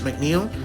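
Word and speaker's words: Tress MacNeille: I believe it's pronounced McNeel.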